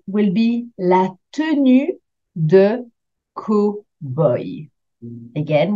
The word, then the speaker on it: cowboy: This type of suit will be la tenue de cowboy. Again, we've taken an English word and we pronounce it the French way. La tenue de cowboy.